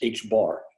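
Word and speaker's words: ħ: uh which is uh is generally pronounced as just h bar okay uh h is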